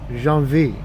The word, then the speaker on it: Genevieve: It's spelled Genevieve, but it's Jean-V.